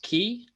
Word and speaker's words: ki: And so it's a huge thing, is like kind of taking our power back and having enough willpower to disconnect from technology.